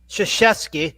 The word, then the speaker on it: Krzyzewski: His nobody knows how to pronounce his. I do, but boo it's boo Coach Krzyzewski, so they just call him Coach K.